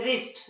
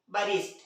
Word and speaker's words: wrist: रही है, डब्ल्यू से, लेकिन इन्हें पढ़ा क्या जाता है, रॉन्ग, राइट, रिस्ट, जबकि पढ़ना क्या चाहिए था इस हिसाब से, बरॉन्ग, बराइट, बरिस्ट।